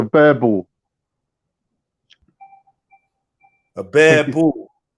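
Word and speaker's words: Boerboel: It's called a bear bull.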